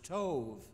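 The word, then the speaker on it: טוב: The word is tov. T-O-V-E is the way we'd spell it.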